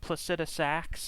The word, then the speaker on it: Placidusax: you know, the Dragon Lord Placidusax, I'm finally pronouncing his name correctly, literally lives in a storm outside of time, which is basically at the center of Farum Azula.